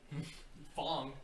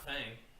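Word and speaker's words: F.A.N.G: Fong, not Fang.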